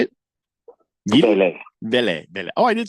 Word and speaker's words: Vele: Vele.